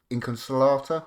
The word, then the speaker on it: Inconsolata: using was um Inconsol- Inconsolata, I think it's pronounced, like how I'm a slater, uh but not smelly.